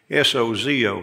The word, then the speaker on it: sozo: Greek is the word s-o-z-o Sozo but it's it's pronounced like it's got a D in it sod so that's the